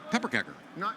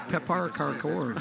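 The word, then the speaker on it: pepparkakor: pepper Parker kecker, pepper kecker, Pepper cake. pepper kecker. Of course. No, pepper kecker. Come on. I pronounced Guys, that. you obviously I can't pronounced read that well. Swedish. It's Pepar Karkor.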